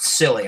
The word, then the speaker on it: Silly: Mine is, I don't know if it's pronounced Silly. I'm going to go with that. It's pronounced Silly, all right?